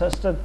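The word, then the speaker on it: Sarstedt: Here, Ringelstad, these three names are actually, Sørsted actually, should be pronounced Sørsted.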